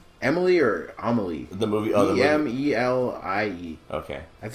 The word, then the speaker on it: Emelie: I don't know if it's pronounced Amelie or Emily. It's Emelie.